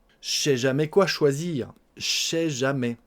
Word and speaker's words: je sais jamais: On mange le ne de la négation et on mange le e du pronom personnel je.